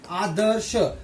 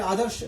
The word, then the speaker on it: आदर्श: अब यहाँ देखिए आदर्श, श से पहले, आदर्श श से पहले र का उच्चारण हुआ है, आदर्श, आदर्श।